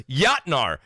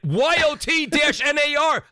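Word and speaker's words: Jötnar: It's Yotnar. And he spelled it out. This is not how you spell it, by the way. But YOT-NAR.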